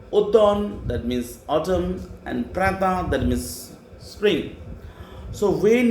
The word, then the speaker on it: printemps: Then spring, spring, P-R-I-N, T-E-M-P-S, ta, printemps.